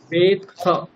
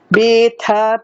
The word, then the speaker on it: वेत्थ: বেথ वेत्थ परन्तप। বেথ নয়, এখানে একটা তকার আছে, আচ্ছা, তাহলে কিরম উচ্চারণ হবে?